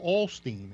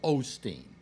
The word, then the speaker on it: Osteen: 7 yeah well Joel Olsteen is 128 that's definitive proof now Alex yes yeah it's Joel Osteen whatever but no stop pronouncing things